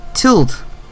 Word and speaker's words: tilde: 물결이라 그러는데 영어로 얘기할 때는 tilde 이렇게 얘기하거든요. tilde라 그러는데 이가 묵음이라고 보시면 돼요.